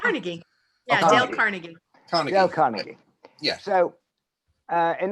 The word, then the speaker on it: Carnegie: We do, but we don't pronounce it that way, though, Will. Dale Carnegie. Let's go to Julie. How do you say it, Julie? Yeah. How do you say it? It's Dale Carnegie.